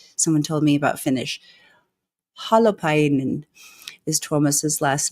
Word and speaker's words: Holopainen: Hollow is pronounced like hologram. Painen. Because I know you pronounce everything, correct? Someone told me about Finnish. Holopainen is Tuomas's last name.